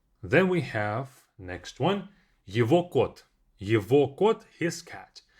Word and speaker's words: его: It can be его кружка, his cup. Его мама, his mom, etc. Его. Even though it's spelled as E-G-O, we don't say его, we say его.